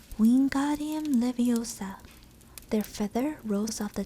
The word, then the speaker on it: Wingardium Leviosa: having much more luck Wingardium Leviosa he shouted waving his long arms like a windmill you're saying it wrong I referred Himani snap its Wingardium Leviosa make the god nice and long you do it then